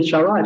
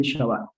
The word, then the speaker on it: Shabbat: En la letra K, que simboliza la letra K, al poner un dagesh, acentúa la letra, es decir, que le da como fuerza y es como si se pronunciara dos veces.